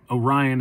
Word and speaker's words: Orion: all the times because you can say orion orion orion whatever it's it's orion is how he says it so that's how i'm